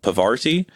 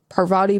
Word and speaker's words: Parvati: anything yes Parvati Patil who I always pronounced Pavarti so trying to find her name was a little inconvenient her body Parvati Patil Parvati I was always thinking it was Pavarti Pavarti okay I was